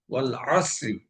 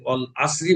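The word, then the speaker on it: وَالْعَصْرِ: বিশুদ্ধ পাঠ হচ্ছে ওয়াল আসরি, এখানে আইন গলা চেপে আদায় করতে হবে। কিন্তু যদি এখানে আমি গলা চেপে আদায় না করে আমি যদি অল আসরি বলি, তাহলে এখানে আইনের স্থলে হামজার উচ্চারণ বা আলিফের উচ্চারণ হয়ে যাবে। এই ক্ষেত্রে মানে এক হরফের স্থলে অন্য হরফ পড়ায় অর্থের পরিবর্তনে তেলাওয়াত অশুদ্ধ হয়ে নামাজ বাতিল হয়ে যাবে।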